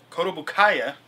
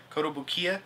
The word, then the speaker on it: Kotobukiya: Kodobukaya. Did I pronounce that right this time? Kotobukiya? Kotobukiya.